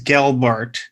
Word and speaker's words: Gelbart: So now, before I mispronounce your name, it is Gelbart. Did I say it right? Well, yeah, Gel like gel, but not Bart, gel, like Bart Simpson. But Gel like what? Gazelle, not gel like jet.